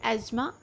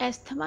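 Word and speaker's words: asthma: First word we have here एज़मा। सो एज़मा इज़ the right pronunciation of इट। एस्थमा इसको नहीं पढ़ना है, TH is silent in this.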